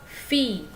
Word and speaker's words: filles: Kalau anak perempuan ce sont vos filles ya. Walaupun dia jamak, S-nya tidak dibaca ya. Vos filles.